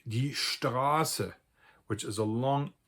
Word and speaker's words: Straße: So if I have words like die Straße, which is a long A, if I were to spell that with a double S in order to